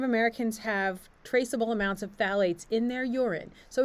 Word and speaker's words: phthalate: shatter a lot of um packages also contain phthalates that's how that word this word is pronounced phthalate which makes products softer so it's that it's